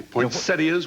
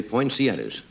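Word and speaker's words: poinsettias: happy pretty back here poas we have to say that right always years I used I mispronounce that for years I used to say poetas which they should be yes some words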